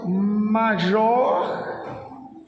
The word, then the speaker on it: majordomo: Porque no latim as palavras são predominantemente paroxítonas, ou seja, a tônica está na segunda sílaba, né? Raramente uma palavra latina tem a tônica na última sílaba, né? A maioria das palavras são pré-paroxítonas. Então a pronúncia seria majordomo, né?